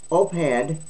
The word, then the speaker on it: op-ed: In an op-ed announcing legislation, I'm glad they showed how that to pronounce that, because they did. It's OP-ED, OPED, announcing legislation for harsher penalties for fentanyl traffickers, Senator Marco Rubio said.